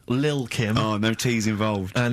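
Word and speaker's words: Lil' Kim: kim but how are you pronouncing it i'm pronouncing that correctly lil kim oh no t's involved and it's the jump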